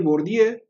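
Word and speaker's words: Bourdieu: años un sociólogo francés que se llama pierre bordieu se escribe por diego pero se dice por día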